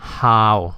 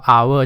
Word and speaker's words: hour: ก่อน มัน ออก ว่า How หรือ ว่า Our มัน ออก ว่า Our ใช่ มย เสมือน กับ ว่า ตัว H เนี่ย มัน ไม่ มี อยู่ ดัง นั้น มัน